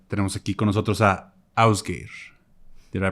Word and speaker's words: Ásgeir: Tenemos aquí con nosotros a Ásgeir. Did I pronounce it right?